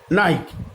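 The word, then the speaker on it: knight: এবার আমরা আসবো কে সাইলেন্ট লেটার। নি, নট, নো, নাইট এর প্রত্যেকটা ক্ষেত্রেই কে কিন্তু কোনো উচ্চারণ নেই, অর্থাৎ কে এখানে সাইলেন্ট লেটার।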